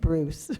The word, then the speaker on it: Brousset: Brousset, I hope I got that right, Mothers for Peace. I like that pronunciation. It's French and it means Savannah grass but it's pronounced Bruce.